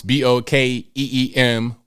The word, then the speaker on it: Bokeem: But if you look him up, Bokeem, it is spelled the way it sounds, Bokeem, Woodbine, Bine.